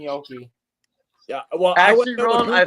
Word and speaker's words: gnocchi: I bet you there's nowhere in the world where it's pronounced ganache.